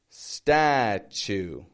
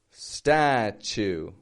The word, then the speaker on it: statue: So notice in each and every one of those words, the first syllable, the first unit of sound, is strong in the vowel. It stretches out in the vowel, right? The second, kind of fading. It's not necessarily always weak in statue.